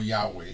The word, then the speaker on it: Yahweh: Los expertos dicen ahora que el nombre en inglés más bien se pronuncia como Yahweh y en español como Yahvé.